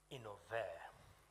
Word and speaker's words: innovare: It comes from the Latin word innovare. It's 3 syllables.